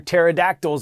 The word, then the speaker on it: pterodactyls: Why can't you hear pterodactyls go to the bathroom? Because the P is silent.